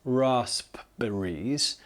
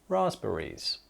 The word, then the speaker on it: raspberries: Now, yeah, this is spelt with a P, but it's not pronounced raspberries. That would sound very, very strange. We do omit or drop the P and say it raspberries.